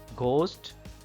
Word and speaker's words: ghost: Ghost, H is silent here.